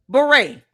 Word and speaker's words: beret: You know, beret only has five letters, two syllables. Beret. Beret. Two syllables, five letters.